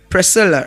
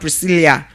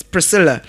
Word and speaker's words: Priscilla: We pronounce it as what? Priscilla and not Priscilia. Not Priscilia. It's Priscilla.